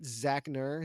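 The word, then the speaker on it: Zachknerr: can follow me at zachner z-a-c-h-k-n-e-r-r silent k is our killer um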